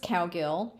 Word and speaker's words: Cowgill: Cowgill. You pronounce it exactly like you see it. Cow Gill.